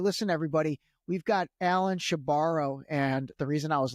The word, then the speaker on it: Shebaro: came on was because I was making sure I was pronouncing his last name correctly. And he said, yeah, she borrows the money and she never gives it back.